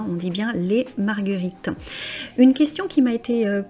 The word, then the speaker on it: marguerites: La marguerite, les marguerites. Alors là, on revient quelque chose dont on avait parlé. On ne dit pas le S final, on dit bien les marguerites.